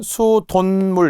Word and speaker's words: 수돗물: 수돗물은 수돈물 이렇게 발음이 니은으로 나겠죠.